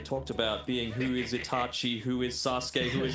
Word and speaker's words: Itachi: It's not Itachi. Get rid of the H. It's just Itachi.